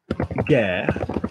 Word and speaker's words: guerre: Notice that it's a soft G because there's an E after it. Okay, so if you had guerre, like the war, notice it's a hard G.